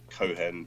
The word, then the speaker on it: Cohen: magazine Elliot a Kohan how do you pronounce it's Cohan isn't it the Cohen yeah typical Jewish name Cohen they